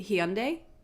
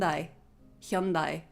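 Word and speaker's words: Hyundai: say it elsewhere but in Australia we say hi for the car brand hi it would not be pronounced that way hund Hundai I think would be more accurate which is different to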